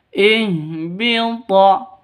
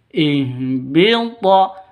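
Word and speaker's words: اهبط: dari tenggorokan paling bawah Ihbit thnya hurufnya qalqalah. Karena di sini thnya itu sukun, berarti syarat menjadi qalqalah itu sudah memenuhi. Jadi memenuhi syarat yaitu thnya sukun atau mati. Berarti ihbit. Jadi ihbit ini qalqalah di tengah seperti ini namanya qalqalah sughro. Agak rendah pantulannya.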